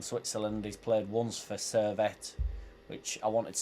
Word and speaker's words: Servette: He's played once for Servette, which I wanted to say Serviette because that's how it looks like it's spelt.